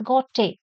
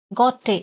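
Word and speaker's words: Gaultier: French pronunciation it is got got it is L is silent here R is silent here a pastry F this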